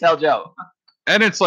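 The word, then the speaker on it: Hjalmarsson: Merson it's jalmer since Joe Merson I thought they H was silenced it's Chalmers Johnson Joe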